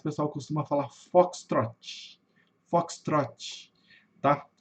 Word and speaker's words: Foxtrot: Esse fenômeno acontece também com v falar fox trot. Pessoal fala fox trot, né? Cuidado com esse i no final.